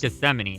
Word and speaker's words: Gethsemane: garden of uh gethsemane and that's how it's pronounced gethsemane okay five seconds to lock in your answers